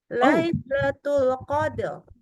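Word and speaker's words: ليلة القدر: ini kita huruf ro lailatul qadar ya itu dibaca rnya harusnya tebal Lailatul Qadr ya bukan Qadr tapi Qadr tapi rnya ditafhimkan gitu maksudnya kenapa kok rnya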